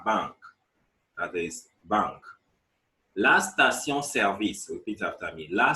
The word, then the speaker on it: station-service: La station-service, repeat after me. La station-service, filling station.